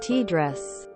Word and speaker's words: TDRS: and data relay satellites tdrs pronounced t dress causes a short data